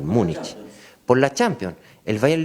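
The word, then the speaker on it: Múnich: Munich, la pronunciación correcta en español, Munich.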